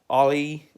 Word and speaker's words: Ali: It's pronounced Ali, like Muhammad Ali.